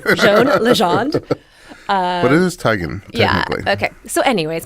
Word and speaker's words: Teigen: Well, she said it's Teigen, Like tiger?